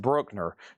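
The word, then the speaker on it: Bruckner: Classical 20, Maggie Bell 6, and then over here we have Brookner, pronounced Brookner 21.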